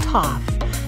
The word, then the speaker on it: TOF: Abbreviated as TOF, pronounced TOF, time of flight is a method of measuring distance to objects based on the flight time of light.